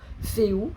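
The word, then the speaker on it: Fehu: Donc c'est écrit Féu, mais ça se prononce Féou.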